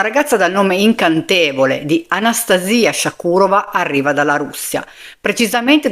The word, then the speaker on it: Anastasia: Per renderle giustizia, ha voluto sentire la pronuncia russa del suo nome e non chiamarla Anastasia, come capita in molti altri contesti, ma Anastasia, proprio come era il suo nome.